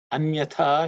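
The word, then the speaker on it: अन्यथा: In terms of pronunciation, anyatha, this tha is second letter in the third varga, so it has to be aspirated.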